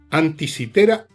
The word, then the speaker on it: Anticitera: En castellano se dice antisitera, pero ustedes la van a encontrar en YouTube poniendo anti con k y tera.